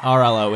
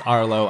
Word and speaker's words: Arlo: and I'm reminded to never pronounce that name wrong again it's not rlo it is Arlo I apologize and I